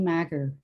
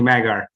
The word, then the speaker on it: Maeger: we'll go to um ronnie magger or madger sorry i mispronounced your last name okay it's uh ronnie maeger um so good evening